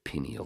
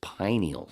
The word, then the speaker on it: pineal: when people pronounce it pineal gland it's pineal like the pine cone just like I can't